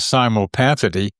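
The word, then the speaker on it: simulpathity: And I invented a term uh um to that to to rhyme with synchronicity called simopathy uh simal same time pathy feeling uh at a distance feeling that uh is to substitute for telepathy.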